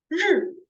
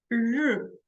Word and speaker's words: 日: So it sounds like E, but the E pronunciation, you are going to roll your tongues inside your mouth. So you can hear the difference between E and 日.